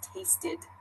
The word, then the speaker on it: tasted: at the end visited another example is tasted they have that ID sound at the end visited tasted someone asked